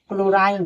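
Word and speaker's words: chlorine: यानी इसी तरह विषमा में एस साइलेंट है। क्लोराइन क्लोराइन में एस साइलेंट है।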